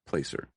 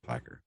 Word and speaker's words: Placer: And in 73, he married Sharon Marie Huddle in Placer, or Placker. I think that's pronounced Placker.